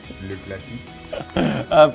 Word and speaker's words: Le Classique: Just a reminder, we will be back on your screens tomorrow to reflect on El Clasico, Le Classique as well. How do you pronounce that, Jack? Le Classique.